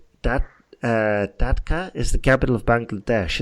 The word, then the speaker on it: Dhaka: Actually, you pronounced it Dhaka, didn't you? No, it's Dhaka.